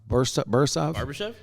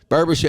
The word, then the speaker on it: Barbashev: Bursov? Barbashev.